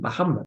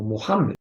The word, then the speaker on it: Muhammad: Realmente mi nombre se pronuncia así, Muhammad, o en árabe estándar debe ser como Muhammad.